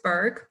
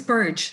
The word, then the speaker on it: Burge: And today we're going to be talking to Berg about Burge. Isn't that how you pronounce it? Yes, soft G, yeah. Burge. Oh, Burge, okay.